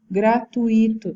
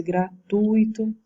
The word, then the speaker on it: gratuito: E os exemplos dessa forma de barbarismo: mendigo em vez de mendigo, gratuito em vez de gratuito, ali é a posição da sílaba tônica.